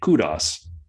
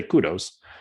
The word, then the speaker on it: kudos: up in F1 uh as the Brits would say Kudos or the Americans say Kudos uh to Lando but